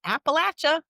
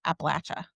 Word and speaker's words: Appalachia: It's supposed to be Appalachia. Well, there's a difference. The The southern part of Appalachia say Appalachia. The northern part you says more Appalachian.